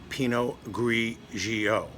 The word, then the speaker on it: Pinot Grigio: How are they pronounced in Italian? Pinot Grigio.